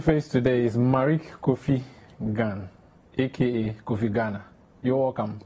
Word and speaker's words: Gane: I prefer to pronounce it Gane.